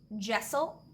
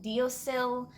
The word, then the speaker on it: deasil: And I was always told that it was pronounced Jessel, although after looking online to see more pronunciations, I have learned that some people do actually pronounce it Deosil, or a variety of other pronunciations. So I've always pronounced it Jessel.